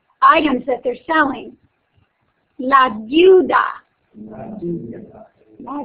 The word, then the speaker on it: deuda: La deuda. La deuda. That's a little different to pronounce. You kind of combine the EU.